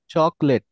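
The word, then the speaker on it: chocolate: বলেন তো দেখি চকলেট চকলেট এটা ক সাউন্ড হবে না চকলেট চকলেট চকলেট খ এই দেখছেন এখানে খ sound চকলেট চকলেট good and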